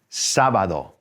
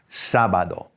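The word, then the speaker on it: sábado: a different letter so here we've got an accent on the a the first day so everybody's saying sabado sabado there you go now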